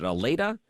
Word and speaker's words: Aleda: Is it Aleda? You got it right, Ryan.